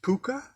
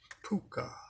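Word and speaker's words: Pocuh: ah no yes really pronounced puka like Harvey the invisible six foot tall rabbit in the movie yes so there it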